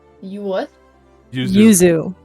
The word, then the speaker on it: Yuzu: y you what Yuzu Yuzu like y u zuu pronounce Yuzu like the emulator it is a it